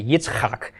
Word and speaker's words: Yitzhak: with Aughra Oh Abraham but Isaac is a Yitzhak and you may not derive